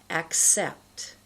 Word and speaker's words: accept: Many people mispronounce the sounds and say accident or accept. That's wrong. You've got to get that slight k sound here.